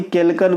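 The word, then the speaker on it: chalcogen: oxygen group को ही केलकन group भी कहते हैं केलकन सीच होता है इसमें स्पेलिंग है ना के के नहीं होता है है ना तो ये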